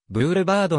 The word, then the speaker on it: boulevard: 省略表記される英語圏ではブールバードのように発音ししばしばブールバールと